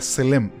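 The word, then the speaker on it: צֶלֶם: Imagen en el idioma hebreo se pronuncia selem. Y selem quiere decir hacer una sombra.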